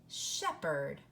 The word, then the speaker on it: shepherd: we just say Sheppard you just hear the ER and the H is silent Sheppard okay and that is